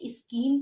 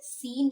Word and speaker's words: scene: अब हम क्या इसे स्कीन पढ़ेंगे या स्कैनी पढ़ेंगे? नहीं, अब हम इसे क्या पढ़ेंगे? सीन पढ़ेंगे बस इसे। ओके, तो यहाँ कौन सा वर्ड है साइलेंट? यहाँ पे C वर्ड साइलेंट है, SENE।